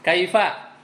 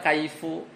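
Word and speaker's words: كيف: Kaifa bagaimana? Kam berapa? Mata kapan? Aina di mana. Ya, ini semuanya bacanya gitu. Enggak ada kaifu, enggak ada kaifi, enggak ada kaifa. Udah. Jadi dia mabni dengan fathah selamanya.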